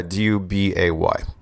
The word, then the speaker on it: Dubay: And I was reading a Guardian article, and it was talking about Eric Dubay. Is that how you pronounce his name? Yeah, Dubay. Yeah.